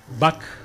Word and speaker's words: Book: Book o buc, si uno lo pronuncia bien, es un hermoso ejemplar que parece salido de un wester norteamericano con John Wayne de protagonista.